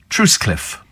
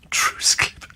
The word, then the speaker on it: Trottiscliffe: and uh warm hugs from trottiscliffe in Kent pronounced truce Cliff truce Cliff I'm sure some of these are made up